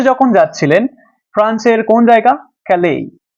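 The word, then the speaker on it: Calais: ক্যালেই। দেখো, এই উচ্চারণ কিন্তু ক্যালিস নয়, ক্যালে নামক স্থানে যখন যাচ্ছিলেন তখন তার মাঝখানে একটা ব্রিজ পড়ে।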